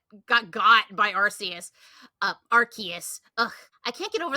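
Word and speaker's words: Arceus: name of the Pokemon they actually told us how it's pronounced after the the community's been calling it Arus this entire time and then they're like no it's Archus now change your ways and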